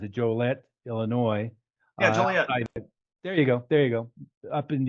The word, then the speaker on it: Joliet: but, Tim Harrison, who's in Joliet, I always mispronounce it, Joliet, Illinois. Yeah, Joliet.